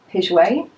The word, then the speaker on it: Piguet: and this fragrance is called Bandit by Robert pidgeway and that's how you say it so this